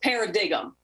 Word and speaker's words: paradigm: Now, if you just look at it on paper, it looks like it'd be pronounced paradigm, which a lot of people tell me that's what they think it is, but it's actually pronounced paradigm.